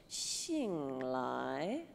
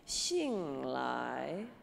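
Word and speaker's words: 醒来: one's a little tricky we're gonna go down and then up again like a question mark so and the X is going to be said like an SH like a sound all right so Jing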